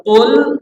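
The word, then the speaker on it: قُلْ: pakai Kaf titik dua kadang-kadang orang bacanya hanya dengan kul pakai Kaf sama artinya Kaf dengan qf beda kalau Qul katakan Allah itu satu tapi kalau KL pakai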